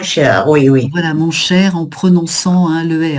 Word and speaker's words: cher: Voilà, mon cher, en prononçant le R. Mon cher, ma chère, mon cher. Là, effectivement, on prononce le R final. La consonne est prononcée.